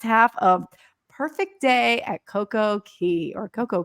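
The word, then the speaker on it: CocoCay: of perfect day at CoCo Key or coco K I always like to say Coco K it rhymes with day but and you guys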